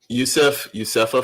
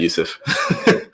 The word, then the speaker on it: Yusuf: I keep calling Yusefa for some reason. It's just because it's Yusuf A, and my brain works like that. It just reads things phonetically. So my bad, Yusuf.